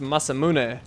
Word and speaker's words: Masamune: I guess it'd be pronounced Masamune. Huh, never thought of that before. Been pronouncing it wrong forever, and actually, I went the wrong way, didn't I?